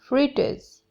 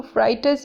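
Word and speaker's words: fritters: पकोड़े को इंग्लिश में कहते हैं फ्रिटर्स, फ्रिटर्स, इसको फ्राइटर्स नहीं बोलना, फ्रिटर्स।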